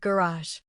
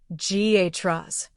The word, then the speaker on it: garage: Say the word garage. In American English, it sounds like GHRAS. In British English, it's often garage.